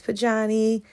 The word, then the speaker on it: Pojanee: I'm just saying, I pronounce it Pojanee, all right?